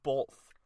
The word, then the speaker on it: both: It's both. I know it's not. Both. There is no L. It is not B-O-L-T-H. It is B-O-T-H. Both.